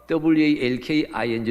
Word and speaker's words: walking: 우리나라 대한민국 사람의 혀 의 구조는 working 와 walking 를 9분해서 발음 하기 어렵게 되어 있어요 원어민이 나죠 구별